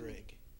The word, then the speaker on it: Uhrig: Uhrig. Spell that.